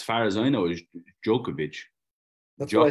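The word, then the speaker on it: Djokovic: your head off what what's the proper way to say it as far as I know is jokovic that's what I said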